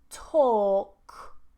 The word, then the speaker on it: talk: So normally if we have an AL combination, we don't pronounce the L.